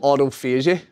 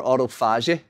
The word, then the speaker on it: autophagy: The health benefits are called, or some people pronounce it different, but it's called autophagy or autophagy.